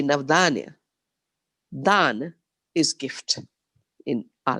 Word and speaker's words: Navdanya: Navdanya, the word basically means 9 seeds, diversity, but pronounced in a slightly different way, Navdanya.